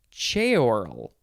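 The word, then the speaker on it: ceorl: c-e-o-r-l it is pronounced che oral it says that it's two syllables but i feel like it should be three syllables che oral ch oral okay noun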